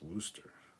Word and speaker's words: Worcester: how to spell it phonetically worse desire is pronounced Wooster okay in this states there are two ways